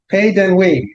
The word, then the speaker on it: Pays d'Ennui: Pays d'Ennui is how you say that, according to her.